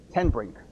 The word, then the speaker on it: Tenbrink: Tenbrink. Okay. Tenbrink. It's almost like one word.